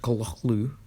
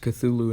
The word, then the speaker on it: Cthulhu: how does someone Cthulhu yes I know it's pronounced Cola Lou it's pronounced Cthulhu in his series so that's why I'm pronouncing